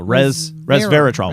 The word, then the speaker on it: resveratrol: My brain always wants to see it as reserve, but it is not reserve. No, resveratrol.